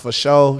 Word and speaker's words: fasho: They can find me at Sugar Dunkerton, FASHO, so that's pronounced for show.